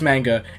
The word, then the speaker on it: manga: I try to pronounce it manga because that's how it's supposed to be pronounced, I'm pretty sure, because, like, I don't think any other language other than English uses A and makes it sound like eh.